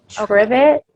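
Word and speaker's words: Tribbett: it's t-y-e and then last name spelled t-r-i-b-b-e-t-t trivet and then it's called work it out and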